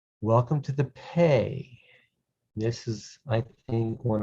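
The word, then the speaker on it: פא: dot in the center this is the p sound it's pronounced pay this is a pay this is a pay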